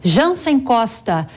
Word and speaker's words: Jansen Costa: um economista e sócio fundador da Fatorial Investimentos, Jansen Costa. Jansen, bem-vindo, boa tarde. E me corrija se a pronúncia do seu nome estiver incorreta, por favor.